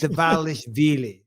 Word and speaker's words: Dvalishvili: You've spelled that wrong, Dvalishvili. That is not. I feel like you've eradicated some syllables there. It's Dvalishvili. Anyway, whatever.